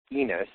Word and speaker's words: Enos: We found out that the E stands for Enos, which rhymes with penis.